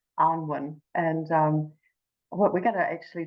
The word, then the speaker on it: Annwyn: So I know, look, it's tricky because it looks like Anne, you know, and everyone wants to just go Anne, but it's pronounced Annwyn.